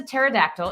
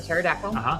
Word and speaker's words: pterodactyl: The remains of this dinosaur, the pterodactyl, which is spelled with a P, even though it sounds like a T, was dug up in Romania, which is true.